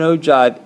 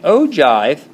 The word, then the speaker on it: ogive: this idea of an ove is really going to focus on the cumulative frequency and in ogive even though it looks like o give is spelled like this is really nothing more